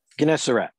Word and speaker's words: Gennesaret: Gennesaret.